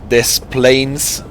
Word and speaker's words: Des Plaines: So Illinois has no S, but Des Plaines has them.